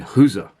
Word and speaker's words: Gueze: on me and he said oh you mean Hooser and I said yeah I suppose II and his SS pronounced these Flemish so the G is like